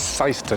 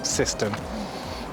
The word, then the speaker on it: Syston: This is Syston, not Syston.